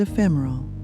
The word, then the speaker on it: ephemeral: Notice the emphasis on the second syllable and the smooth rhythm of the word.